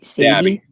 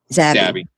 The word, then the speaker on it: Zabby: How do you pronounce that? Sabby? Zabby.